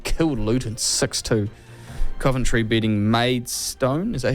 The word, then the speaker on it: Maidstone: Bournemouth Man City killed Luton 62 Coventry beating maid stone is that how you pronounced it maid yeah that was the other